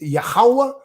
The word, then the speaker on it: Yahweh: It's Yahweh, or you want to call him Yahuwah. I could rock with that. That's not wrong. That's just a difference in the region where a person's from and the pronunciation.